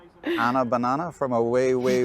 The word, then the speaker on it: Anna: Cuz my name's Anna and rhymes with banana.